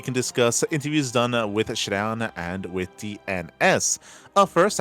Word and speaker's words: ShaDoWn: discuss interviews done with Shadown and with DNS. Uh first I should also emphasize it's not Shadon, it's Shadon. I need to uh like Shadow with an N at the end.